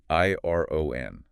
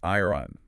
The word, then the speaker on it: iron: I R O N. But we don't pronounce it iron, do we? No. That's a really common pronunciation mistake. The R is kind of soft. It's more like iron.